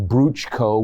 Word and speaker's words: Bruchko: From what I read, that was the story of Bruchko, which is how the Motiloni tribals pronounced Bruce Olson.